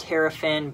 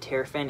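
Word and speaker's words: Terrafin: got Earth got terapin I know it's actually pronounced terapin but that's how I pronounced it when I was a little kid Terin and I don't care I hate you it's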